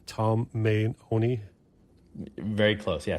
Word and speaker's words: Tomeoni: And let me get the pronunciation of your last name. It's Tomeoni? Very close, yeah, Tomeoni.